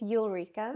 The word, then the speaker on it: Ulrika: So, how do I pronounce her name? Is it Ulrika? It's Ulrika.